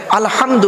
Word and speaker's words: আলহামদু: হায় হাওয়াজ নয় বাপেরা আলহামদু গলার ভেতর থেকে হয় এটা উচ্চারণ হবে আলহামদু মানে হচ্ছে সমস্ত প্রশংসা